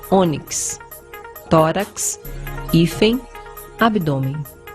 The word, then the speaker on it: ônix: paroxítona terminada em x Ônix a pedra preciosa Ônix circumflex no ó para você não ler Onix que deve ser uma pedra falsa tórax e não tórax